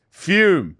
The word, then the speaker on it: Fume: We're talking about our sponsor, Fume, pronounced Fume.